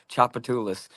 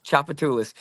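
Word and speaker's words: Tchoupitoulas: It starts with TCH. This word actually starts TCH. It's Chapatoulas.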